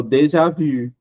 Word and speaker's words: déjà vu: E aí eu vou falar de uma expressão que a gente já escuta muito em português e pronuncia errado. É o déjà vu.